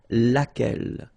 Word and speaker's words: laquelle: So basically same rule, Q-U, U is not pronounced here. And then you get this E-double-L-E, well, phonetically here, it is the same as what we have here. So laquelle.